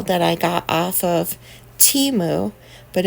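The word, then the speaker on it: Temu: I got off of Teemu but if you watch the football game I guess it's per pronounce TAMU I think we all been saying it wrong but this cute little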